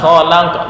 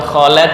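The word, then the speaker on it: خلقت: Lima kholak, bukan kholek kok tuh. Le, la, bukan le.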